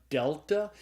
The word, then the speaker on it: delta: sound it's called a delta and so Delta is pronounced like the D in the English word dog and the next letter